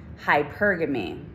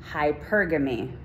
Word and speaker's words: hypergamy: hyper game hypergamy okay say it with me hypergamy hypergamy good job good job see look at us